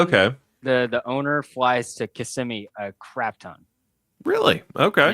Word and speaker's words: Kissimmee: Around in Orlando, everybody calls it Kissimmee, but if you actually live here, it's Kissimmee.